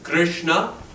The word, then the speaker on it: Krishna: Krishna, two syllables. The Ri is a syllable, Ri, and A, Krishna.